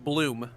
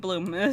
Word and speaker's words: Blum: his name is pronounced Bloom sorry Steve Bloom sorry it's spelled Blum but it's pronounced Bloom yeah thank you Sal